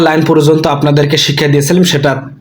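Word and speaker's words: ث: তারপর রয়েছে সা। আমরা অনেকেই কিন্তু সা উচ্চারণ করতে জানি না, সা কিন্তু উচ্চারণ করতে হবে স্পষ্টভাবে, সা সা।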